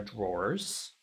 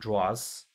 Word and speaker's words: drawer: I do say drawer. These are drawers, not draws.